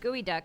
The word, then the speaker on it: geoduck: Now some people will say it's pronounced gooey duck, and I say, get a life.